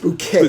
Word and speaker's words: Bucket: she was hyasent bucket who insisted on having pronounced her name pronounced bouquet bouquet.